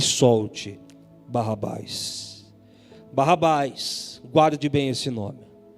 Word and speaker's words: Barrabás: crucifique Jesus e solte Barrabás. Barrabás, guarde bem esse nome. Um nome aramaico que se divide em 2 partes. A primeira parte se pronuncia Bar, a segunda parte se pronuncia Abas.